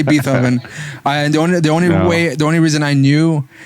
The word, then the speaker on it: Beethoven: I didn't say Beethoven. The only reason I knew that that's not the way it's really Beethoven. pronounced was because of the movie Beethoven with the fucking dog, with the Saint Bernard.